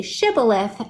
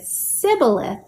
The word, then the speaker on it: shibboleth: came over, they said, "Can you say shibboleth?" And if they said sibboleth, it would suggest that they couldn't pronounce the word correctly, and it was a